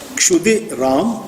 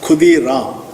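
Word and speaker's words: Kshudiram: His father's name was Kshudi Ram Chattopadhyay. But you know, Bengalis normally pronounce Ksha as Kha. So the name was pronounced as Khudi Ram.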